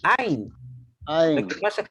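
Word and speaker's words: עין: No es Ayin, es Ain.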